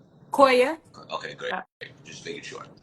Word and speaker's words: Koya: Koya. What' you say? How do I pronounce your first name? Koya.